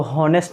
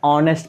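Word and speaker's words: honest: ये देखिए ये एच को हॉनेस्ट नहीं पढ़ते हैं, ऑनेस्ट पढ़ते हैं।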